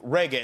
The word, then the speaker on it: Regé: And when you have a name like Reggae, is that the correct way to say it? That is the correct pronunciation. Sounds like the music, spelled different.